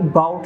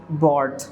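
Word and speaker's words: bought: आई बाउट नहीं होगा, आई बॉट अ बैग।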